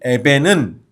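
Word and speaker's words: אבן: 그리고 돌은 에벤이라고 읽어요. 그러니까 건축자들이 버린 에벤은 농부들이 죽인 벤이에요.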